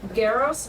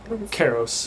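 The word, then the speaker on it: Karros: Is it Garros or Karos? Karos. Okay, see?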